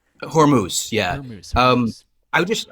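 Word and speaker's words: Hormuz: straightest Handis or Hermandis or how do you pronounce that? Hormuse.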